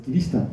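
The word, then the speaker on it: キリシタン: 그런데 크리스천은 일본 사람은 우리처럼 발음이 잘 안 해요. 그래서 기리스탄 이렇게 발음합니다.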